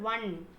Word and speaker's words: one: So when you're pronouncing the word one, one, how is it coming? Va. V sound is coming right. One. So v is a consonant sound.